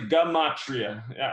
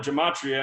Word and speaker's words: gematria: It's pronounced So gematria. yeah, it's actually gematria. For years, I called it gematria until somebody finally corrected me, but came across